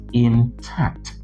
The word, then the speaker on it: intact: Everything is intact, but it is correctly pronounced intact. Intact. So it is stressed on the second syllable, not on the first syllable.